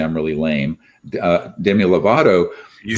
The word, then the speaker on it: Demi Lovato: uh my kids would say I'm really lame, Demi Lovato. You said it right. You said Demi Lovato right.